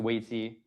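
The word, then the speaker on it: 危机: It's pronounced weiji.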